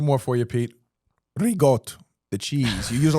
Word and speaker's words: ricotta: Ricotta, the cheese. You use a lot of ricotta cheese in your place? Ricotta, not rigot.